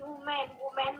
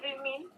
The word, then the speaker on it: women: All students said this is woman, but I say women, and they said she is correct.